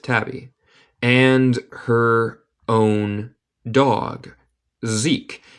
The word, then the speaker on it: Zeke: Zeke, ¿se pronuncia así? Sí, Zeke.